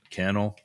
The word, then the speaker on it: Cannell: Cannell rhymes with channel.